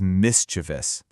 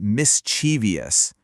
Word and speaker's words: mischievous: And the key here is to remember it only has 3 syllables. Just 3. Let's just say it out loud. The right way is mischievous. So often we want to sneak an extra E sound in there and say mischievous, but it's not there. Keep it simple, keep it to 3 syllables, and you've nailed it.